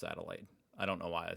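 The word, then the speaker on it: Adelaide: University of adelade adelade I know it's pronounced adelade I don't know why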